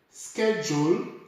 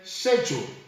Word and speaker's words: schedule: number eight Sam sir schedule and other say schedule fortunately on this one both are correct schedule is British and schedule is American but because we received